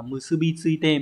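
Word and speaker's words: 結び付いて: Số 3, chúng ta có từ này đọc là musubi tsuite.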